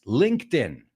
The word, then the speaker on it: LinkedIn: word because everybody I think in Spain is pronouncing it uh wrongly it's LinkedIn my ears are bleeding right now it's LinkedIn LinkedIn LinkedIn you know link right it links